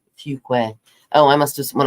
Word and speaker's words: Fuquay: She said, parents said, Cindy, it's pronounced Fuquay.